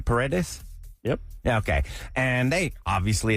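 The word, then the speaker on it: Paredes: Pedes.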